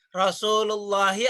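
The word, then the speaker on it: رسول الله: baitun Allahi, tapi baitullahi bacanya. Bukan. Kan kagak ada alif lamnya. Ya. Baitul Allahi. Karena Allah ya. Rasulullahi atau Rasulun Allahi?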